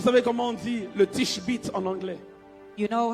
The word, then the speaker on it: Tishbite: Vous savez comment on dit le tishbit en anglais?